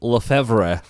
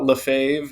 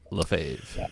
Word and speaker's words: Lefevre: your last name uh I answer to anything but uh lefave is how I'm told it's supposed to be said lefave of teni aquarium design